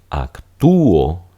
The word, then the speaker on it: actúo: una Wa mientras que aquí actúo yo acto en una película de X serán tres sílabas porque la u y la o se van a separar Entonces esta es la